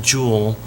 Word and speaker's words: joule: just like to say you pronounce it jewel in the english system work is measured in foot pounds in the metric system you measure it in joules so that's where that comes